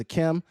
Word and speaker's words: Akem: It's Akem. It's not Akeem. It's Akem.